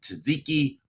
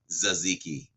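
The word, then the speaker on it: tzatziki: ago uh was it taziki or zaziki I'm gonna say Z zaziki I'm gonna say the t is silent on that so kudos to me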